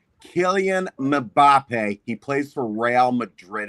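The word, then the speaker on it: Kylian Mbappé: In case in case you guys wanted to know how that name is pronounced, Killian Mbappé.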